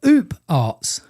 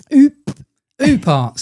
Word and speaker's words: OOPArt: Uh they said they would like us to speak all about out ofplace artifacts, also known as oop arts. Oops. Not oops. No, not oops. Oop art.